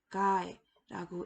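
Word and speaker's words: गाय: 왼쪽에 있는 단어는 가에라고 읽으며 암소를 뜻하는 힌디어 단어입니다.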